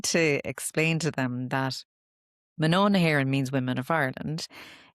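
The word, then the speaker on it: Mná na hÉireann: are English, and they're like, "How do you pronounce the name of Yeah, your I know. podcast?" And I'm like, "Manon Heron," and then they're like, "What does it mean?"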